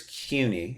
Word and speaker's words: CUNY: I always said City University, but is it CUNY? Is that how you pronounce it? Is that how people in New York say it? I'm pretty sure it's CUNY. It's like a cue ball almost, Okay.